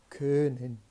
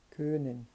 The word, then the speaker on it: können: Então, fica aquele können, né? Ou então, se você começar no O, né, e terminar no E, ali no meio, né, você vai encontrar então a pronúncia exata do Ö, tá?